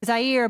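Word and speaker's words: Zayir: His name is Zaire, but it's spelled Z-A-Y-I-R. Not like the country.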